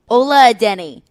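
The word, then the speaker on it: Adeniyi: Well, Adenehi, he's not, I got to pronounce his name right. Caroline, how did you do that? Ola Adenehi.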